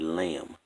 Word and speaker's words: lamb: When you say the word lamb, the B is silent.